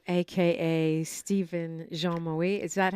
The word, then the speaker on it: Jean-Marie: Stephen Jean-Marie. Is that how you say it? Oui, Jean-Marie.